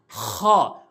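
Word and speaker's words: خ: মাঝখান থেকে উচ্চারণ করি এরপর আসুন খ অর্থাৎ হলকের শেষ থেকে হলকের শেষ থেকে এভাবে খ এভাবে আমরা উচ্চারণ করব খ এরপর আসুন দাল দাল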